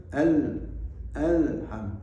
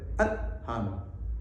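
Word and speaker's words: الحمد: agak mengalir sedikit jadi kita mengucapkan Alhamdulillah harus alham tidak boleh alam alham harus alham seperti lahul mulku alldu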